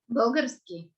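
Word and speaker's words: Български: How is it pronounced in Bulgarian? Bulgarski.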